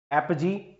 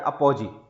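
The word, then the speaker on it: apogee: ऐसे ही अब तक नहीं पूछा गया है लेकिन पूछा जा सकता है, एपजी या अपोजी। एपजी वैसे सही उच्चारण है इसका, एपजी।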